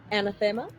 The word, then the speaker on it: anathema: So it is either anathema or enticing to spirits, my choice. So you can make it. I've always heard that word pronounced anathema. Anathema. I always said anathema and found out that was wrong.